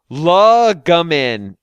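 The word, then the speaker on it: Llylgamyn: Gamin. Sometimes Lil Gamin. Yeah. Fuck it. Sure. You know what? While the spelling looks Welsh, its most commonly anglicized pronunciation emphasizes the second syllable. Gamin.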